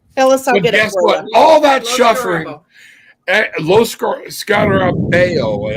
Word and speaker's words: Lo Scarabeo: Lo Scarabeo, I think is actually how you say it. But yeah, my wife said Lo Scarabo.